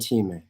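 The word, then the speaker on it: timē: to introduce you to are arte clayos and temi that's how you pronounce those things right and let's imagine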